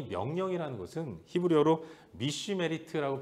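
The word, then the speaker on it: משמרת: 근데 여러분, 이 명령이라는 것은 히브리어로 미슈메리트라고 발음하는 단어인데 뜻이, 의미가 이 울타리를 친다라는 뜻을 갖고 있어요.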